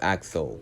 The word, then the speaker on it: Axel: also one of the characters that name I mispronounced and it's Axel and I do really like Axel's character just